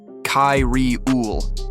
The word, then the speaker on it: Cariel: Her name was Cariel, though humans could barely pronounce it. The translator chip rendered it softly, Kai-Ri-Ul, like a sigh through static. Her skin shimmered in tones